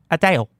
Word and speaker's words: Adele: And before you think I said her name wrong, that is how Adele pronounces Adele.